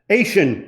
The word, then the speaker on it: Ation: and president of ancient itching how do you pronounce it frank asian advisor okay good innovation commercialization oh very good